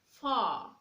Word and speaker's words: far: You say car, far. The letter R is not pronounced.